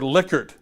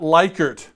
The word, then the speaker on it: Likert: the way you'll notice I use the word Likert Li ke er T not Likert Likert pronounce the guy's name right please guys dead he